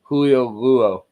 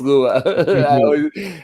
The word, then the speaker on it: Lua: Julio Luo. It's Lua. I always pronounce his name wrong.